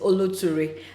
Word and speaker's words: Oloture: also do not know how to pronounce the name it is oluturi and it means endurance